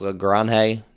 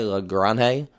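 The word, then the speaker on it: Lagrange: Maybe Carlos L Grande. That's that's how you say it, by the way. L Grande or more of an accent on it, obviously.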